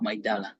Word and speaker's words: Maidala: How do you spell that? I-L-A-R-A. Yes. I-L-A-R-A, Ilara Health. How about Maidal? Say Maidal, Maidala.